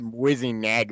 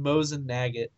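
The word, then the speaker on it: Mosin–Nagant: You said Whizzing Nagget. What? It's more than the said- dots. I said Mosin Nagant because I don't speak gun, so More than Nagget.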